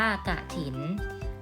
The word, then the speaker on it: กฐิน: น่า สน ใจ ค่ะ องค์ กฐิน อ่าน ว่า จะ ทิน เป็น ชื่อ พิธี ทาง